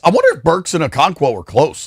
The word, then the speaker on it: Okonkwo: Okonkwo? Okonkwo, yeah.